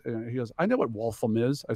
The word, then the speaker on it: Waltham: He goes, I know what Waltham is. I said, oh, it's actually pronounced Waltham.